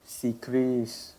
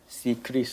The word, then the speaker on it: CCRIS: Yes, we have this secret Secris. Okay. Secris. How do you spell that?